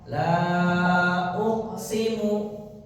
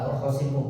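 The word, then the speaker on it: لا أقسم: Perhatikan qof sukun. Nah, kembali seperti tadi harus sama q sukun dipantukan membacanya begini. La uqsimu sama-sama laqsimu kalau dia tadi bacanya tidak mantul. Kalau kalau mantul mah ya sudah laqosimu bagus.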